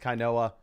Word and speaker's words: Kynoa: My name is pronounced Kyoa.